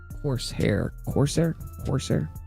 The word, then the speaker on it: Corsair: Corsair.